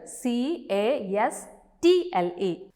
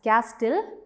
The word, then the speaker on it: castle: read the word as castile we have to pronounce it as castle so when we pronounce the letter t is silent there next you have the